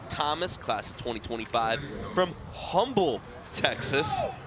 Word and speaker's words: Humble: class of 2025 from Humble Texas where's Humble Texas humble you say you say with a silent h of Texas it's in the Houston